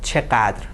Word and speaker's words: چقدر: and as you can se, the stress is on "چقدر".